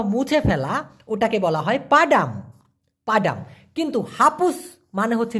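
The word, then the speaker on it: padam: দেখুন একটা আছে হচ্ছে পাডাম পি এ ডি এম উচ্চারণ হবে পা ডাম এই পাডাম মানে মূলত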